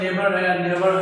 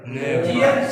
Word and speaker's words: neighbour: सो NEIGHBOUR, इसको पढ़ेंगे नेबर। क्या? नेबर। इसमें बॉय, नेबर। Neighbor. साइलेंट है, नेबर।